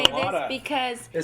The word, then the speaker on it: Chelada: I know how to say this proper. It is a Budweiser and Clamato it is clamato urine. Chelada. That's how you say that.